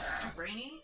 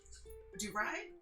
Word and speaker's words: DuVernay: Ava DuVernay, I think is how you pronounce her last name. DuVernay?